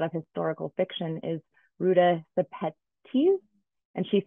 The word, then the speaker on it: Sepetys: historical fiction is Ruta Sepetys. And she said it that way. When I looked up her pronunciation, she said it with an S, but I think in Lithuanian, it's Shepetys.